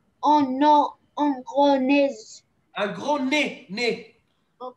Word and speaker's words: nez: Un gros nez. Un gros nez. Nez. Un gros nez. On ne prononce pas le Z.